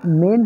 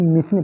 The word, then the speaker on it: mesne: दोस्तों आज जानेंगे हम लोग कि मेन प्रॉफिट क्या होता है। इसको कभी कभी प्रोनाउंसिएशन कर देते हैं कि मिसिंग प्रॉफिट। मिसिंग प्रॉफिट नहीं होता, मेन प्रॉफिट होता है।